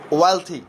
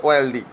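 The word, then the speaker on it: wealthy: এই শব্দটির প্রতিশব্দ অর্থাৎ সিনোনিম হচ্ছে ওয়েলথি, নট ওয়েলদি। অনেকে ওয়েলদি বলে শব্দটিকে, কিন্তু এই উচ্চারণটা ভুল হবে যদি ওয়েলদি বলে। উচ্চারণটি হবে ওয়েলথি।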